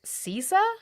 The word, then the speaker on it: CISA: The Cyber Security and Infrastructure Security Agency, which apparently I've been pronouncing wrong, it's CISA.